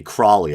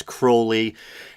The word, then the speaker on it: Crowley: of Aleister Crowley a lot of people say Crowley I believe the proper pronunciation is Crowley and he was a practitioner of Crowley's kind